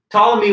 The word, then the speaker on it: Ptolemy: One of those other figures is this man named Ptolemy, the silent P at the beginning of his name. Ptolemy was loyal to the